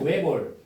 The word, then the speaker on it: 외골: 그 다음에 외곳이 아니고 외골, 핫다가 아니고 할다, 가시 아니고 가, 얻다가 아니고 없다.